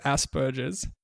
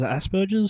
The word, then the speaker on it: Asperger's: And it's about how we pronounce the word, what we say is Asperger's. I think maybe that is technically wrong, Charlotte.